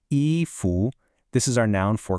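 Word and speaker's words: 衣: And the last piece of our core vocabulary puzzle is eu pronounced eu.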